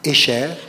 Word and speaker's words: Escher: dessinateur qui se llama Escher. Ah, Escher, sí, que claro, pronunciado en francés, el tipo es holandés.